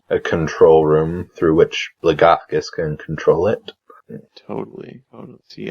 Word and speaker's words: Blagothkus: Blagothkus, is that how you say it? Blagothkus, yes.